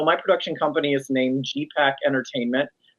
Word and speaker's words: GEEPAK: Yeah, so my production company is named GEEPAK Entertainment, based on the Inuit word in mushing for turning right, which is G. It's spelled GEE. So my company is GEEPAK, as if it's the right pack to be with.